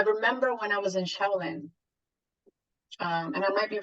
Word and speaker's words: Shaolin: And that, I remember when I was in Shaolin, and I might be pronouncing that wrong because I know some people pronounce it differently. So I don't want to butcher the name. Shaolin.